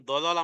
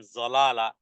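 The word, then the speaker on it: ضلالة: আদলা আদলা দেখুন দলালা মানে হলো পথভ্রষ্টতা আর যদি বলেন জলালা তাহলে হয় সাউনি এবার কি বুঝাবেন বলেন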